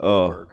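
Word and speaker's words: Åberg: Oh, Oberg. Aberg. Yep. Ludvig Oberg. I believe with the Omlot above it, it's pronounced as Oberg.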